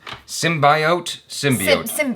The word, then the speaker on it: symbiote: When Eddie Brock acquires the powers of a symbiote, he will have to release his alter ego, Venom, to save his life. Symbiote?